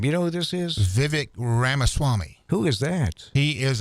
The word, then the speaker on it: Vivek Ramaswamy: number 10 here is, now how do you pronounce this guy's name? You know who this is? Vivek Ramaswamy.